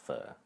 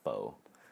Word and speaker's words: pho: It's just like pho, like the noodles. It's pronounced pho. People call it pho, and it's not.